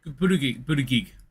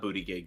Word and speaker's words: Buttigieg: Buttigieg. Oh no, not booty gig.